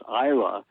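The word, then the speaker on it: Islay: one of the uh Isa whiskies everybody pronounce it is it's not it's i l a y but you know like most Gaelic words they're not pronounced like they look but it's Isa IA is an island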